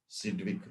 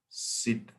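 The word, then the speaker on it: Sidgwick: of effective ading number svic the g is silent here sit I'll write with red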